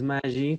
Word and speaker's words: Maggi: Luis Maggi con doble G. No lo digan Maggie, por favor.